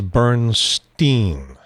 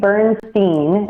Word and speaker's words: Bernstein: So what I would say is if you say Bernstein and use the Steen ending, you're more likely to get it right, because Bernstein and the